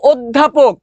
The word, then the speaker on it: অধ্যাপক: উচ্চারণ হলো অধ্যাপক, ও অধ্যাপক।